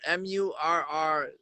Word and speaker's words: Murr: right, so it's spelled Murr and then Mayo. So the way I explain the spelling of the name is you take the AY off of Murray and then Mayo short for mayonnaise.